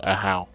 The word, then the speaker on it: Ajaw: AJAW is pronounced Ahau.